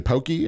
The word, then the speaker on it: Poke: So what do they say? Pokey? In Texas, people call it pokey. Oh, okay. Yeah. But it's poke.